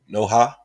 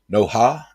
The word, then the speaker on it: Noha: Prince said, pronounce the H in Noha. Noha? Noha?